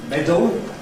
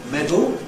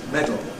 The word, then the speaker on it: medal: could be said as medal, more usually said as medal, where in spite of the spelling that suggests medal, we usually go straight from the D to the L, lateral release, medal.